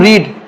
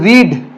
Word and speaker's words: read: This is रीड, this is रेड, this is रेड, रीड रेड रेड। ये आपका past और past participle रीड नहीं होता है, रेड होता है।